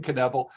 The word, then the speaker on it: Knebl: to find and for those who don't know caneble is kind of like it's spelled similar to conniff okay exactly it's five letters could I please buy another vowel k-n-e-b-l knevel yes you're correct I'm easily findable type my